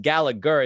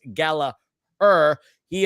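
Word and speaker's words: Gallagher: every season that there is John Gallaher not pronounced gallager it's Gala he uh he leads this team in assists with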